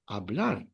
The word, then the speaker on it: hablar: If a word ends in a consonant, okay, in a consonant other than N or S, okay, you stress the last syllable.